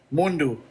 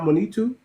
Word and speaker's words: Mondu: Mundu. I don't know what you're looking at, but It's Mundu. It's not Monitu.